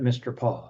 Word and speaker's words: MRPA: And just as an aside, Missouri Regional Planning Area, MRPA, I pronounce that Mr. Paw.